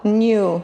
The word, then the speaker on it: knew: Know, knew, known. You know that. Again, three, yeah. Very good. K is silent. You don't need to pronounce it.